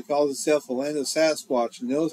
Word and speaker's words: Sasquatch: Salish people named this creature Seskak, or wild men, which most people now pronounce as Sasquatch.